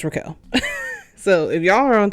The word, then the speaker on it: Raquel: Her name is spelled Raquel. Some people call her Rachel, some people call her Raquel. I think it's Raquel, but I just want to